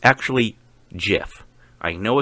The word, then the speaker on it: GIF: Although it's actually GIF. I know it's a huge debate, but it's GIF. The creator of the file pronounces it GIF. The creator gets to name it.